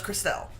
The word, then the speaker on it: Christelle: Christelle? I actually know somebody whose name is Crystal and is spelled E-L-L-E at the end, but that's not Crystal, that's Christelle. I'm sorry. E-L-L-E makes L.